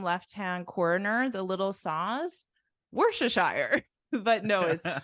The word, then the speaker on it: Worcestershire: in the bottom left-hand Corner the little saws Worcestershire but Noah say say it again Worcestershire Worcestershire so this was invented in this town obviously